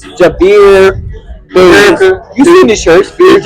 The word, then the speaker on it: Javier: He's always pronouncing his name wrong. It's Javier.